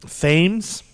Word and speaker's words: Thames: How did you pronounce it? Thames.